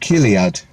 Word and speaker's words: Chiliad: Chiliad is pronounced Kiliad.